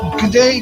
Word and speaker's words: G'day: G'day, g'day, g'day. I'm still learning how to say that. G'day, g'day, g'day, g'day, g'day. It's like g'day. It's one word. It's one syllable.